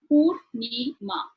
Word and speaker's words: Purnima: Let me count the number of syllables my name has. Purnima. 3 syllables.